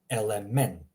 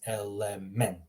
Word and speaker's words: element: Notice how I'm pronouncing the first word here. Etiqueta. The first one is a short E. Second one is a longer E.